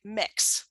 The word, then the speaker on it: Mx: It's pronounced like mix, like you mix Oh, batter for a cake.